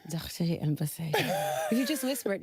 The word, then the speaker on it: Bathé: It's a very long story, but it's pronounced Bathé. And so sometimes you get to the point where they call you all kinds of things, and it's just Bathé.